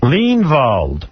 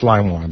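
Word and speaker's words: Leinwand: Lean Vald. No, it's lime wand. That's how you pronounce it.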